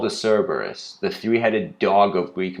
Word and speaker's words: Cerberus: with hercules or perseus what is this oh cerebrus it's called the cerberus the three-headed dog of greek mythology i mean